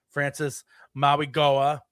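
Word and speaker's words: Francis Mauigoa: And yes, so all that leading to that, the Chiefs did meet with a tackle at the combine, Francis Maui Goa. That's how you pronounce it.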